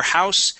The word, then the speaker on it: house: House, with the unvoiced S, is a noun, house, with that Z sound as a verb, okay?